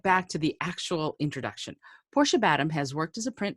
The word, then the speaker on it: Portia Badham: It is Portia Badham. Portia, And see? just like John Badham, who was the great